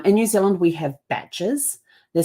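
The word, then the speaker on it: bach: New Zealand we have batches they're spelled b a c h um but pronounced batch like b a t c and those are um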